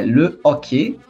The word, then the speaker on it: hockey: Não, o H não tem som de R como pra gente, né? Hockey. Não, é le ok.